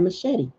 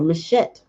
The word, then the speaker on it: machete: up she has that machete or machette depends on how you say it right so when